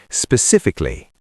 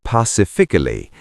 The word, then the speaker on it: specifically: Many people say pacifically. Like pacifically. I might do that. It's common, but it's wrong. It's specifically with spot p at the beginning.